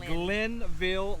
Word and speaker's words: Glenville: right we're on glensville lake or glenville or glensville how do you say it glensville glenn just glenville lake in north carolina it